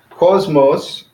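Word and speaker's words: κόσμος: and stuff so cosmos so it's on the first syllable is two syllables cause most so Kappa Omicron Sigma mu Omicron Sigma so that's the two syllable so the first one call is enormous so it's kind of emphatic on the first civil cosmos so that means world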